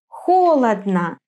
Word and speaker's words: холодно: Why is it on the first syllable in холодно, on the third in интересно, and on the last in хорошо?